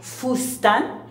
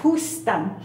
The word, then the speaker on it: fustán: Esta se llama fustán, y los mayas de aquí no pronuncian la palabra fustán, no pueden hacer el dicen justan.